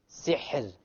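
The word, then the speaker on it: سحر: So, sihr. Sihr. Okay, so the ra is silent. Before it is silent, before it is a kasra, therefore the ra will be light. Okay?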